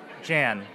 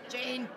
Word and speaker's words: Jane: yeah that'll be fun jan jane jane that's why it was wrong yeah i've i've i was like jan wait no no i'm saying it wrong it's like jane how long have you